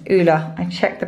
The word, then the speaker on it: Ulla: It's Ulla. I checked the pronunciation.